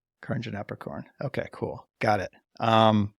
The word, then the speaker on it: Karnjanaprakorn: eight I'll take it can I hear you pronounce it just so I know for future reference yeah yeah Carin apricorn Carin apricorn okay cool got it um awesome yeah well